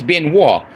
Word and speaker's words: Benoit: Yes, my last name is Ben Wo. You spell it Benoit.